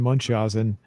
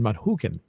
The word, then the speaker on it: Munchausen: the adventures of baron munchausen munkhausen in the movie they pronounce it a couple of ways baron munchausen or at one point there's also it's also pronounced baron manhuken so um so this